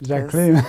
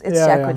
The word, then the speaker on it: Jacqueline: Second name is Jacqueline. I like to say it like that. Jacqueline. Yeah. Because I'd like to believe, you know, there's exoticness in the Frenchness, but it's Jacqueline.